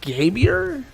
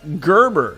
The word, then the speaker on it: Gerber: today Rebecca Hernandez uh gabier is that it how do I pronounce this uh Gerber not gabier Rebecca Maria Hernandez Gerber